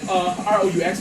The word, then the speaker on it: roux: R-O-U-X, roux, pronounced as roux, not rooks or rocks. Roux, like a kangaroo roux.